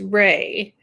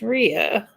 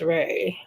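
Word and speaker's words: Rhea: my middle name is rey it's spelled r-h-e-a and a lot of people say it's ria but my mom said it's rey so it's ray okay i didn't i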